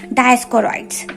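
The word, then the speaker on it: Dioscorides: World father कौन है, डायस्कोरॉइड्स। डायस्कोरॉइड्स का प्रोनाउंसिएशन अगर आपको नहीं आता है तो डायस्कोरॉइड्स का प्रोनाउंसिएशन है डायो पढ़ लो, फिर उसके बाद स्कोरॉइड्स यानी कि डायो स्कोरॉइड्स।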